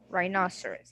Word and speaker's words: rhinoceros: Rhinoceros, yes. So here, the H right here is what? It's silent.